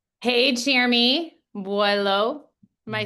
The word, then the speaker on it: Boillot: Hey Jeremy Buo. Am I saying it right? Correct me. Please pronounce your name. Buo. Okay. Jeremy. Buo.